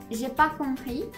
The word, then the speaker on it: j'ai pas compris: And the way you pronounce this is j'ai pas compris. And you may notice that I didn't pronounce half the things here, but in French,